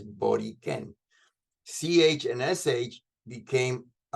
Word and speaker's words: Borikén: sisters have been using the word Boriquen rather than Borinquen, which is not the correct way of pronouncing this word. It is Boriquen.